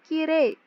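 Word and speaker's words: きれい: ue3 termasuk Selain itu kosakata kiri saat dilafalkan atau saat diucapkan itu bukan Kirei tetapi kire hurufnya tidak terdengar hanya huruf t yang panjang kiri bukan Kirei Kirei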